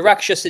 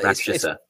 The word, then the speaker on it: Rakshasa: How do you pronounce it? The Raksh. The Rakshasa demon. Now Rakshasa.